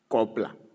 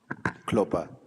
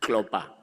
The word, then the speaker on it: Klopper: Honorable Kopla, am I pronouncing it properly? Klopper. Klopper, yeah, Honorable Klopper, Honorable Nomvalo, Honorable Mkwebane, Honorable Ngaba.